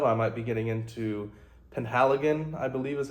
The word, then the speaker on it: Penhaligon: And, besides Roja Dove, I might be getting into Penhaligon, I believe is how you pronounce it.